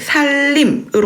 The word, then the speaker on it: 산림: 자, 우리가 이 살림을 발음을 살림으로 하지 않습니까? 그죠? 살림으로 하지 않습니까? 그렇지만 표기는 산림으로 표기하는 게 맞죠.